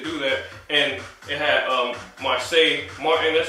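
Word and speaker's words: Marsai Martin: And it had Marseille Martin, that's how you say her name.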